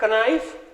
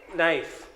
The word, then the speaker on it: knife: This is not knife. The K is silent there. We say knife.